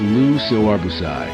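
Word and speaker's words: Le Corbusier: Lu Corbuz Lu Corbuz pronounced Lu Siobus was a pioneer of modern architecture.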